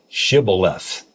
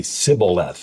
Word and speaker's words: shibboleth: And so Jephthah found out that the ones that threatened to kill him, they could not pronounce shibboleth, and they would say Sibboleth.